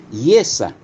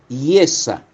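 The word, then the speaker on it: ישע: En las raíces hebreas, el término salvación se pronuncia yesa. Miren, miren ustedes la entonación, la fonética, yesa.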